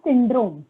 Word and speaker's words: syndrome: Down syndrome. Sin. S-Y-N. Down Sin. syndrome. Syndrome. Yeah. Syndrome. Okay, teacher, thank you.